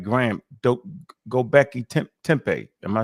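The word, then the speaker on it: Göbekli Tepe: lot of sudos that like like Graham do goi tempe. Am I saying it right? Go Becky Tempe.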